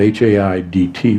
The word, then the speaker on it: Haidt: It's spelled H-A-I-D-T, but it's pronounced Haidt.